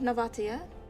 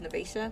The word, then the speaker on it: Novatia: We do have Novatia. I really thought her name was Nvesa, but everyone pronouncing Novatia. So, Nvatia, it is.